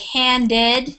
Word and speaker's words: handed: it has a a like handed it's more of a a d sound but finished it sounds